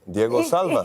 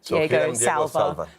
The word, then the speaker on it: Diego Calva: Got it right, and then on stage said Diego Salva.